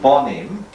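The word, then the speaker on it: בנים: if i would say i would add on a little yield and then and it's now pronounced slightly differently it's called bonim bonim means sons please like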